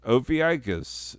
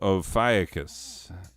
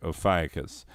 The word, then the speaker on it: Ophiuchus: album cover moving on opis no ophiuchus that's how you say it ophiacus november 29th to december